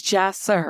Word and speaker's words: Jahsir: And so that happens to you with this is your 4th child, and pronounce his name for me. His name is Jahsir. Jahsir.